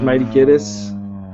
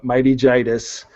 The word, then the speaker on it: Mighty Jitus: ever been pronounced right, because it's like laryngitis. Everybody says Mighty Gitis, but it's Mighty Jitus.